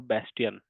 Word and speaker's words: Bastion: Now let's understand a new topic which is called Azure Bastion. You can pronounce this as Bastion.